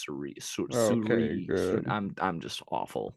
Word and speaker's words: Syuri: Yeah, it's not Soraya. So it's Suri. Okay, good. I'm just awful with pronunciation.